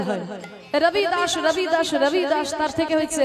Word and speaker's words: রবিদাস: নাম নয় তার নাম হচ্ছে রবিদাস বাঙালিরা বলে রুইদাস তার নাম হচ্ছে রবিদাস তা দেখবেন হিন্দিতে বটা একটু উচ্চারণ হয় রবিদাস রবিদাস রবিদাস তার থেকে হচ্ছে রবিদাস আবার বাঙালিরা